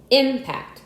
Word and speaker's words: impact: Some 24 two-syllable words in English are stressed on the first syllable. If used as nouns, however, if used as verbs, these same words are usually stressed on the second syllable.